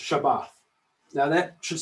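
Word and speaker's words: שבת: this word here this hebrew word here it's pronounced shabbat now that should sound familiar to many of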